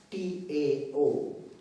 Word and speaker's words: Tao: the state of Tao, T-A-O. Tao is pronounced as Tao, spelled as T-A-O, Tao.